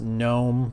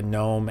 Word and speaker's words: GNOME: I know many of you think that it's pronounced gnome but it's actually not it's a gnome as in canoe so if you called it